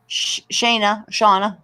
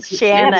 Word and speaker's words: Shanna: Shauna. I pronounced names wrong. It's Shanna. It's okay. It's Shanna. pronounced phonetically correct. It's like Anna was shut up before it.